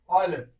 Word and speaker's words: Euler: We call it as Euler, right? He introduced our number, right? In the 16th century, there was a mathematician called Euler, right? We write this as Euler, but then its pronunciation is Euler.